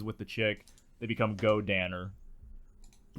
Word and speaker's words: Godannar: And then when he fuses with the chick they become Go Danner. Go. Go. Danner. What's the main character? But it's spelled Dinar.